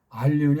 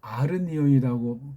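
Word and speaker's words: ἀρνίον: 그때 말했는지 그 전에 했는지 야 이게 알리온이 아니고 아르니온이라고 발음하는 게 좋아.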